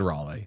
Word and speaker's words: Raleigh: I've never said Raleigh. No one says it's not Raleigh. I've made that mistake before and been corrected by a lot of North Carolinians. It's definitely Raleigh.